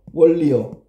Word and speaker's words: 원리: 원리는 발음하면 어떻게 돼요? 원리요. 그럼 뭐가 뭐로 바뀌었어요? 니은이 니을의 영향으로 리을로 바뀐 거야.